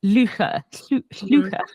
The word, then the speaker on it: Llwchwr: But I know how it should be. It's Llwcher.